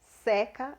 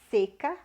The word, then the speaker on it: seca: Aqui é seca, mais fechado, e aqui é seca, mais aberto.